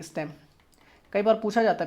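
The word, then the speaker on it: STEM: बिल्कुल सही है यार, इसको एक प्रोनाउंस भी करते हैं स्टेम, स्टेम, हाँ बिल्कुल सही, स्टेम।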